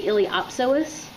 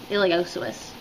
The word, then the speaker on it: iliopsoas: Reading it you might want to say iliopsoas, but the p is silent. That is this deep muscle right here, iliopsoas.